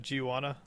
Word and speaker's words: Guiana: They launched the rockets from the was that Giwana Space Center? I think that's how you pronounce that, if I heard it right when I heard about it. Where is that at? Giuiana.